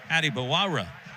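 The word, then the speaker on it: Adebawore: five-star freshman B.J adibawara we got a pronunciation change on that by the way just before the game so I know how it used to be said by everyone but PJ said actually how you say my name is Adi bawara you know typically a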